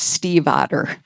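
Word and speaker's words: Stiefvater: author's last name correctly, but it is pronounced Steve Otter.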